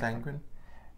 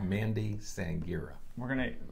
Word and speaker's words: Sangira: Isn't it Sangren? Sangira. That's right. It's another syllable in there. Yeah. Mandy Sangira.